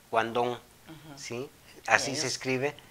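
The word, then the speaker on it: Guangdong: sí, en la actualidad se escribe Guandong, pero su pronunciación es Guandong, ¿sí?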